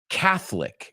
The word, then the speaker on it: Catholic: Just be careful. I've heard people say Catholic, and it's not Catholic, it's Catholic. Are you Catholic? Are you Roman Catholic? Okay, es como la O no la pronunciamos.